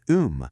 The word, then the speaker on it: 음: And the last character im is um which means to recite or a poem.